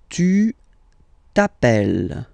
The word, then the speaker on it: tu t'appelles: All right, second form, tu t'appelles. Okay, remember, final s not pronounced. Tu t'appelles.